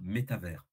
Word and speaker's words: métavers: Ouais, Euh, En français, il faudrait dire métavers. ok. Métavers, méta avec un accent sur le premier et un S à la fin, comme univers.